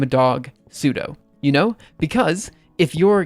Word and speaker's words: sudo: of sudo I mean I suppose you probably supposed to pronounce it Super User do but I mean it's always pseudo um let's see oh man